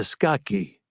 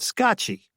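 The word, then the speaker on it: Scacchi: Greta skcky. Chilly said. That's the one. That's how you pronounce it. Huh? Skiy. I never knew that. I heard scotchy. I never heard sky.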